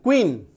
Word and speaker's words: queen: ये देखिए Q के बाद U आया, QUEEN, क्वीन, QUEEN, क्वीन, तो रानी। तो जब Q के बाद U आए तो उच्चारण क्या बन जाता है, क्वा, उच्चारण क्या बन जाता है, क्वा, ठीक है।